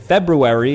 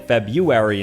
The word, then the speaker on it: February: saying Artic instead and February is slandered as well with people saying February instead ignoring the r many medical terms trip